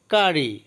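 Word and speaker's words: curry: কারি অর্থ তরকারি, কারি অর্থ তরকারি। এখানে কোনো ওয়ার্ডের মাঝখানে যদি দুইটা ওয়ার্ড একই ধরনের দুইটা অ্যালফাবেট একসাথে থাকে তখন একটার উচ্চারণ হবে, যেমন আর এখানে ডাবল আছে কিন্তু একটা আরের উচ্চারণ হবে।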